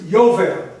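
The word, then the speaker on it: יובל: In Hebrew it's Yovel. Y is the J.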